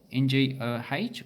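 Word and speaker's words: 我: you write it as NGOH or just OH. If you're not too familiar with Cantonese, their pronunciation has changed over the last 100 years. It's generally dropped the ngo and just gone to o.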